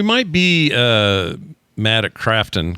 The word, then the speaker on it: Krafton: It's spelled Crafton, not Croftton.